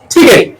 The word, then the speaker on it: ticket: কোন ওয়ার্ডের শুরুতে টি থাকলে কি হয়? অ্যাসপাইরেটেড হয়। আর যে ওয়ার্ড লেটার গুলো অ্যাসপাইর, সেগুলো উচ্চারণ কি হয়? টি থাকলে কি হবে? ঠ হয়ে যাবে। তাহলে কি হবে? টিকেট।